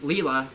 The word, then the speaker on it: Leela: parents hugh and lo and leela sorry my bad sorry my bad i was good i mispronounced it like lila but yeah sorry i